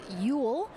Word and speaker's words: Yule: wrong a little before it is yule so she is living